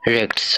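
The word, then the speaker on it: rechts: এটার উচ্চারণটা হবে এর এ সে হা টে এস, রেক্টস অর্থাৎ ডান।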